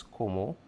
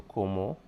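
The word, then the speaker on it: cómo: And like I said, when saying how in Spanish, it's como, but with the accent on the O. So como, how do you ask somebody how they're doing?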